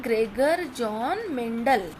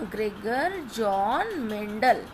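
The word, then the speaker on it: Gregor Johann Mendel: ठीक है, ग्रेगर जॉन मेंडल। अच्छे से आपको इसका प्रोनाउंसिएशन ध्यान रखना है। देखिए मैं यहाँ हिंदी में भी लिख देती हूँ, ग्रेगर, उसके बाद जॉन मेंडल, है ना, ग्रेगर जॉन मेंडल।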